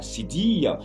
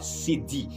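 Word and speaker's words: cédille: signe qui s'appelle la cédie j'espère que vous avez bien écouté la prononciation c'est céd le mot c'est pas CD quand on dit céd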